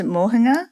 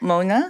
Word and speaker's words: Moana: well to start with my name's Moana not Mona so everyone calls me